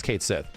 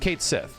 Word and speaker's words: Cait Sith: 20 years has presented it's like dude it's Kate Sith you're just trying to pronounce it like the Japanese way to the point where I learned though the Japanese way technically tries to keep the same like phonetic language like the way you you pronounce the name a bit more correct and the English version seemingly just tossed that out and they're like oh okay Sith right it's just Kate Sith so as soon as